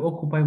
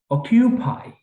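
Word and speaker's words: occupy: Okay, next is অকিউপাই, কেন আপনি অকুপাই বললে তো হবে না, অকিউপাই, অকিউপাইড, অকিউপাইড, ফাইন।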